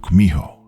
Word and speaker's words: Kumiho: In Japanese, you've probably heard of it as Kitsune, though in Korean, it's pronounced Kumiho.